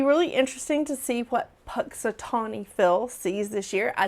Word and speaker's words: Punxsutawney: But it's going to be really interesting to see what Punxsutawney Phil sees this year. I say his name wrong all the time. It's Punxsutawney Phil.